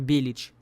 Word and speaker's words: Belić: Фамилия Нико на самом деле произносится как Белич, но большинство персонажей и сам Нико произносит ее неправильно.